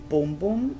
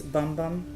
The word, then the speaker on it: Bum Bum: Brazilian, people call it Bum Bum Cream, some call it Boom Boom Cream. If it is pronounced in Portuguese, it's Boom Boom, I think. But in English, it's Bum Bum.